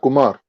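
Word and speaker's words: خمر: to say it k-h yeah we call that we pronounce that kumar that meaning gambling yeah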